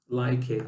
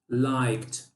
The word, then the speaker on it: liked: Não vamos colocar, não vamos, mais uma vez, acrescentar mais uma sílaba e falar like it, não, liked, liked, ok?